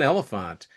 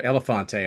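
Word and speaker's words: Elefante: I like John Elephant or Elephante. I've come to learn that's how you pronounce his name.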